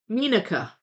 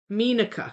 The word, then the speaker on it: Meenaka: First syllable sounds like mean, and then uka. Meenaka. Meenaka.